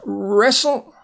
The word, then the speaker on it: wrestle: Next is wrestle.